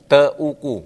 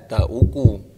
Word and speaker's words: Teuku: kalau salah ya tapi kalau Teuku tulisannya Teuku berarti bacanya teeku harusnya enggak teku aja teku teku oke Heeh